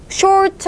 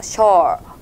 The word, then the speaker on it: short: short 한다고 해서 입을 동그랗게 모아가지고 오 소리를 내주는 게 아니라요. 살짝 그냥 벌려주시고 오와 어의 중간에 음을 내주면 돼요. short, 그 다음에 r 이겠죠.